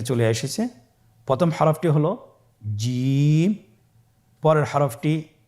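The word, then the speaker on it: جيم: এর মাখরাজ হলো জিহ্বার মধ্যখান, তার বরাবর উপরের তালুর সঙ্গে লাগিয়ে উচ্চারিত হয়।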